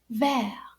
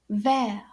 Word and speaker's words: vert: say it like this ver can you say that ver now notice that the t is silent ver now listen carefully